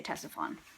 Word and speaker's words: Ctesiphon: Okay, it just sounds like the C is completely just ignored.